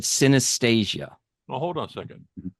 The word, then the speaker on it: synesthesia: Now, I'm going to spell it because I'm hoping I'm pronouncing it right. I think she said synesthesia.